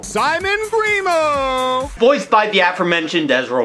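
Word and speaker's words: Grimault: So after Nina wins, we're presented with the next contestant, Simon Grimo. And yes, that's actually how they pronounce it in this show. Simon Grimo!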